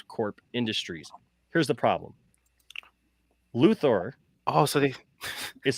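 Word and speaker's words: Luthor: CEO of Lex Corp Industries here's the problem luor oh so they is spelled l u h o r yeah they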